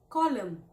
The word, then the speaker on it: column: Please make another column not column but column.